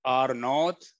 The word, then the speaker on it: R naught: It's called R naught. That's the way it's being pronounced.